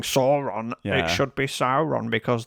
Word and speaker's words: Sauron: It should be Sauron because the AU symbol is pronounced OW in the Silmarillion Index for pronunciation of Elven and Mordor speak names.